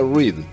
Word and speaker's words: Reed: Y junco, el la planta que nosotros conocemos como junco, en inglés se pronuncia read, r e e d.